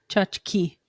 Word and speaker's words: tchotchke: It's tchotchke. Tchotchke. Chachi. Just say it right. Chachi. Tchotchke. Chachi. Not chachi, as in Chachi?